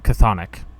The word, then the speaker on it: Chthonic: It is Butik, B-U-T-I-K, by Chthonic, C-H-T-H-O-N-I-C, Chthonic. Okay, hold on. Spell that for me one more time in a second.